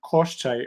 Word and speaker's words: Koschei: Okay, because usually in Slavic folklore, koshchai, okay, that's the way we would pronounce, is a dragon. It's like the main baddest dragon that you have to defeat. Well, okay, so in Russian folklore, Koschei is usually distinct from dragons.